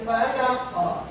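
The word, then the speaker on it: فلق: Jadi birabbil falaq. Nah, tidak boleh kita membacanya di sini al-falaq. Harus ada pantulan ya. Jadi qul a'udzu birabbil falaq. Al-falaq. 1 2 3. Al-falaq. Sini ada pantulan ya.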